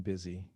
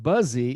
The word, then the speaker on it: busy: seria I have been busy these days. Notice the pronunciation is very important here. It's not buzzy. It should be buzzy, but it's busy. Just like business.